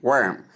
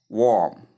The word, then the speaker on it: worm: Worm. Not warm. Correct. Central vowel sound. That is the long s sound.